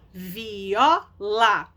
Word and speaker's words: viola: E aí a pronúncia, a sílaba tônica mais forte é o ó, que é a penúltima.